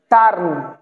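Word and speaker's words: turn: তো বানানটা দেখেন, ইউ আছে এখানে, তো ইউ হলে কি হবে? আকার হবে, তাহলে টি মানে ট, হ্যাঁ, এবার আকার, আর এর কারণে একটা রেফ হবে, আর এন মানে দন্তান্ন।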